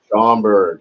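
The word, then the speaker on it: Schaumburg: How do you pronounce that? Shamburgg. Shamberg.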